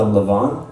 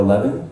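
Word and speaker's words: levain: a little preferment and in French it's called a leavon but or a lean but it's essentially just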